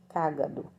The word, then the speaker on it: cágado: e perto da comissão essa for pronunciar é cágado tá não é outra palavra aí tá bom que